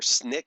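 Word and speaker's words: SNCC: Student Nonviolent Coordinating Committee or Snick as it is pronounced promoted stins and freedom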